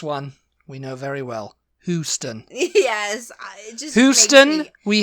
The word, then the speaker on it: Houston: it cute when you say Houston Houston it's Houston okay it's Houston he is a who I